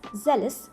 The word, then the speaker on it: zealous: zealous be careful friends this word is pronounced as zealous not leaves for example we can